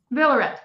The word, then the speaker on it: Villaret: Another reason that our podcast is super special today is because I have Villaret, if I'm pronouncing it right. Villaret. Okay. Say it again. Villaret. Oh, you do pronounce a T.